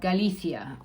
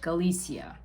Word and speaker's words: Galicia: where you'll be um it's called galithia or in english galicia and that'll be a